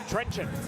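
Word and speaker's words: Trenčín: Can you pronounce it? Trencin.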